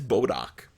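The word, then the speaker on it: Bodach: this one's called bodok it's bodok not modok that's from Marvel this is bodok this is from folklore in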